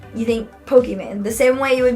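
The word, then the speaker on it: Pokimane: her name's pokem man and uh it's actually pronounced Pokemon because her name is Iman oh and she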